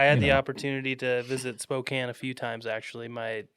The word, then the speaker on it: Spokane: Uh, just Spokane.